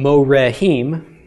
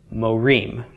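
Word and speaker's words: מורים: Moe ream teachers okay so it does not become moe rahim but it becomes Moe ream and you will see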